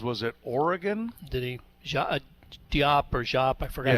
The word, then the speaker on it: Diop: Diop or Jop? I forgot how to Gonzaga. pronounce it. Jop.